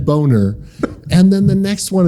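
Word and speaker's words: Boehner: The next one is Ber, but it's spelled B O E H N R. So Eustic and then Boner.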